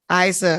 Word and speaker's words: Isa: Is it Isa? I want to make sure I'm pronouncing it correctly. Isa. Okay, got it.